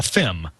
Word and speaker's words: FIM: And again, you just use the acronym FIM, and that stands for Field Intensity Meter. Yes, and so that's a lot of syllables. So we engineers say a FIM.